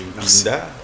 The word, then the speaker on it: Mpinda: C'est Mpinda. Les uns vous disent Pinda ça et là.